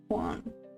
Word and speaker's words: Juan: Who's trading the Euro USD J is pronounced as H. So you would say Juan.